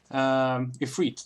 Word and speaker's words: Ifrit: Ifrit, that's how you pronounce it.